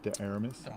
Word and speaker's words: de Armas: How do you pronounce her last name? De Armas.